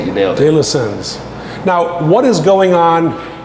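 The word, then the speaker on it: De la Senne: De La Seine, is that how you say it? Yes, Yeah. that's how you say it. You nailed it. De La Sens.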